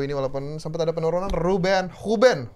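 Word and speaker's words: Rúben: Huben, bacanya Huben ya. Huben ya? Huben Dias.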